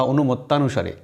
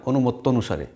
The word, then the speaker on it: অনুমত্য অনুসারে: আমরা ভুল উচ্চারণ করি অনেকেই বলি যাতাভিমান বা অনুমত্তানুসারে কিন্তু যাতাভিমান নয় আকার হবে না আবার অনুমত্তানুসারে নয় অনুমত্য অনুসারে কেন নয় নিয়মটা এই